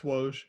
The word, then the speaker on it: Woj: How do you pronounce his name? That's Woj.